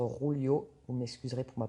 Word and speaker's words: Julio: Et Julio, il a préféré laisser rebondir cette balle. On prononce peut-être Rulio.